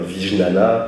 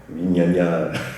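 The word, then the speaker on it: vijñāna: comment on va avoir tendance à prononcer, c'est on va dire Vijnana, c'est pas la bonne prononciation en sanskrit, c'est un gneu. Vignagna, c'est pas facile à prononcer pour nous.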